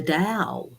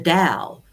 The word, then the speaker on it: Tao: it actually was the dow she's got a beautiful harp here the dao of course it's spelt t-a-o which is taoism taoism but we pronounce it with the d of course and it's a very